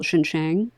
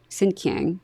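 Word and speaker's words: Xinjiang: he was sent to what we now call Shin Shang sinyang was the pronunciation at the time which is the part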